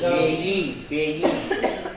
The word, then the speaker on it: payee: Payee. P-A-Y-E-E. Payee. Payee. The person who receives the payment.